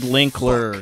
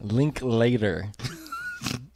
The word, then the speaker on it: Linklater: Richard Linkler. Fuck. Richard, okay. Linkler. So that's not how you say it. It's Linkler, right? Linklater.